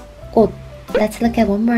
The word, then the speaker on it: 꽃: Yes, it doesn't produce ch sound. It will sound like 꽃, 꽃.